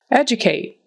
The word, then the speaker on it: educate: Educate. Educate. That D is a J sound.